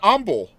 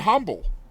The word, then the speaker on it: Humble: Well, So, shoot, you grew up in humble. Most people would call that humble. yeah. Well, the H is silent.